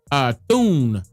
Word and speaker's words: Thune: I believe his last name is pronounced Thune, if I'm not mistaken.